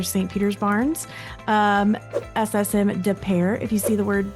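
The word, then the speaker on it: Des Peres: Peters Barnes, um SSM, Depair. If you see the word Depair, it looks like Dez Perez, but just know it's pronounced Depair.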